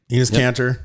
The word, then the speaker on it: Enes Kanter: Well, so this, I just posted, it was on Breitbart, where is it Enes Kanter? Is that how you say his name? Yep. Enes Kanter.